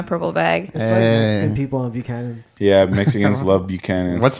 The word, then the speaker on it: Buchanan's: like irish whiskey but they don't even call it buchanans they call it buccanas which is even funny it's like they can't they can't say the full name so they say it like like bukana so i was like